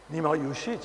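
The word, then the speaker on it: Nima Yushij: Peut-être vous pouvez mieux le prononcer que moi. Oui. C'est Nima. Nima Yujit, bien sûr.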